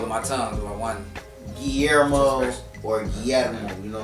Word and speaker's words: Guillermo: Guillermo. Guillermo. Yeah, yeah. For people who don't roll their tongue.